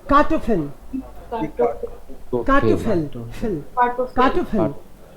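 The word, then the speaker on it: Kartoffel: Okay, दी कार्टोफिल, कार्टोफिल, fill, कार्टोफिल। फे पे रुकना नहीं है, डबल कॉन्सोनेंट है भाई।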